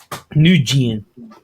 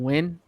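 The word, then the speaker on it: Nguyen: dustin go ahead gomez what new jean no wrong close though baby don't you pronounce this name win yes yeah yeah that's not a winning name right there yes it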